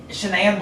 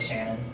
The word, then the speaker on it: Shanann: Alright, so Shanann Watts, it's so weird how they say her name because it looks like Shannon, but it's Shanann.